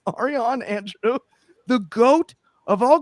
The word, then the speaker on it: Ariane: I know it's Aron and I keep reading it phonetically like it's hooked on phonics and it's my fault and I apologize, but it's Aron.